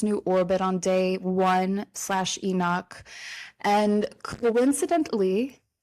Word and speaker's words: Enoch: Now Earth is stabilizing in its new orbit on day one/ Enoch. And coincidentally, Enoch rhymes with epoch.